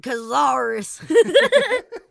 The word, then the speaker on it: Cazares: Yeah, is it Cazares or Cazares? Here in America, we call it Cazares.